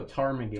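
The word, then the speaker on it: ptarmigan: I'm going to go tarmagan. I'm going to say the P is silent.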